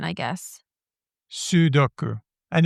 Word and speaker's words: sudoku: Sudoku. And it's got an U at the Sudoku. beginning. So I do believe that the first syllable is the one that gets the stress.